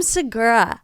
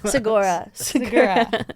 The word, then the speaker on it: Segura: who doesn't know Tom Segura girl sagora how do you say it Josh I think it's Sagara thank you Josh big deal